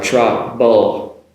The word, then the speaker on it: trouble: Now also the trouble, which I'm sure you know the spelling has a B in there. So trouble. Now the B and V, the B sound trouble compared to travel, bull. It's a B sound, okay?